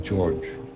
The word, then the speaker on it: Jorge: I am Jorge, but pronounced as George. No? Jorge because it's Spanish for George.